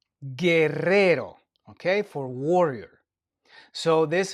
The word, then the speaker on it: Guerrero: So we don't pronounce the U. We don't say gu. We say G. And the word we have here for that is Gerero. Guerrero.